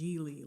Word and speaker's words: Gigli: My name is pronounced Gigli. It rhymes with really.